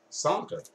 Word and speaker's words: Csonka: cos Csonka that's how you say his name sonca my right is he song just cute sockets it's good thing you uh Nathan good thing you never of rope hockey with me zanka but just said hey I used to say